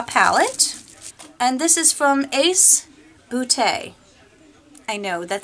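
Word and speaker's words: Ace Beauté: have here a palette and this is from ace bootay I know that sounds like I'm making fun but it's actually pronounced it's pretty it's spelled beaut with a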